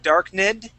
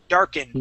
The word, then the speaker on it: darkened: dark because remember uh if it does not end with a t or a d we cannot pronounce the ID sound you would said dark nid Okay so we're g to jump from that n sound right to the D darkened dark darkened good